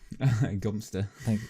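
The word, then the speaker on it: Godmanchester: It's actually it's pronounced it's spelled Godminster. Gumster.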